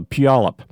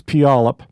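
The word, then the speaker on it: Puyallup: uh there's a town in the Seattle area, Palip. If you see how it's spelled, you'll never pronounce it correctly. Uh you you have to you have to look away and then know it's Palip.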